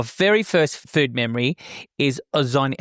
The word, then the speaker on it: Ozoni: And your very first food memory is Ozoni. How do I pronounce this? Ozoni.